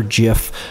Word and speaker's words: GIF: Do you say GIF or GIF? You gotta say the hard G in my opinion, but I'm open to interpretations as well. So, hard G, it's gotta be a GIF.